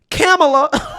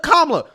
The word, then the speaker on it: Kamala: mispronouncing KLA Harris's name you're calling her camela right instead of KLA now here's the thing